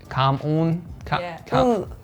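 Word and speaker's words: cảm ơn: say thank you no it's spelled like come on but it's come on like at the back of your throat the c a bit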